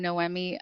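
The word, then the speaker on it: Noemi: like Matt mentioned I'm no Emmy I like to tell everyone that my name is pronounced like you didn't win an Emmy Award so no Emmy for you I've come very close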